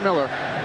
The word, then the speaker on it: Mueller: Looks like Mueller, but he pronounces it Miller.